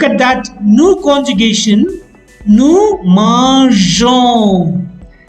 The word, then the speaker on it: mangeons: But in the new conjugation, if E is not added after G, the conjugation will become mangon. In order to retain the pronunciation of GER, we add E and thus manger, mangeons.